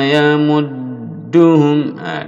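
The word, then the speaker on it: يمدهم: Allahu yastahzi'u bihim wa yamudduhum. Dal di tasdid, di double. Tasdid cara membacanya ditekan lalu ditahan dua harokat.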